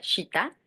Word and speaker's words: Chita: Nuestro colectivo recibe el nombre de Siembra nuestra, que en en nuestra lengua eh se pronuncia shita.